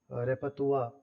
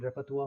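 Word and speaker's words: repertoire: अगर आप वोकैबुलरी या रेपतुआ एक वर्ड होता है, रेपरतुआ, जिसकी स्पेलिंग रेपरटोयरी जैसी होती है, लेकिन इसकी प्रोनाउंसिएशन रेपतुआ होता है।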